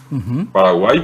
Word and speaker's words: Paraguay: Igual que el nombre correcto de nuestro país es Paraguay. Paraguay quedó porque los españoles no pudieron pronunciar la I.